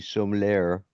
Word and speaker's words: sommelier: And this It's this like- one person she is a ITEI Master Tea Sommelier, or whatever the hell that stupid word is. Spell it.